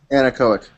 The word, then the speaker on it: anechoic: I don't even know how to pronounce the word. Anechoic.